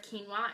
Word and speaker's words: quinoa: So I don't overly love the flavor of quinoa.